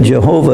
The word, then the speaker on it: Jehovah: They only wrote the consonants. They didn't write the vowels.